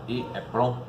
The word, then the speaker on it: EEPROM: EEPROM, também escrita E2 elevado PROM e pronunciada EEPROM, sigla do inglês Electric Erasable Programmable Read Only Memory, né?